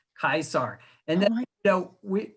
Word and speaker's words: Caesar: were going to go meet uh julius kaiser instead of julius caesar that's how he would pronounce his name julius kaisar and then you know